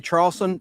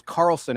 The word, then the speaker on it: Carlson: I said Leslie Charlson. The H is silent. Her name is Carlson, actually.